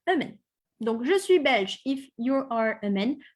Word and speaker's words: belge: Donc, je suis belge if you are a man. Je suis belge if you are a woman. Same writing, same spelling, same pronunciation. Belgianois.